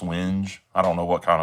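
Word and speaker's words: wenge: And this is called winge. A lot of people say wing, but it's actually pronounced winge.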